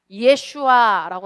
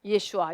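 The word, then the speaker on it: ישוע: 또 예수는 히브리어로 뭐라 그래요? 예슈아라고 합니다. 예슈아.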